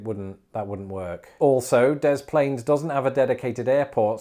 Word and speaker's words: Des Plaines: in the illinois city of the plains it's pronounced des plaines so that it wouldn't that wouldn't work also des plaines doesn't have a dedicated airport so you'd have